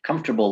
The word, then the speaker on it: comfortable: Comfortable looks like comfortable, but we just cut out the extra letter.